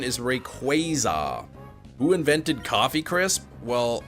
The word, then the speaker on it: Rayquaza: hunt by the time we get to Rayquaza and that'll determine what I want to do